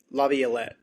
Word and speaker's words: LaViolette: Laviolette.